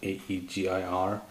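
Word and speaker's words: Ægir: this power amplifier easier i think that's how you pronounce it aegir based on some norse mythology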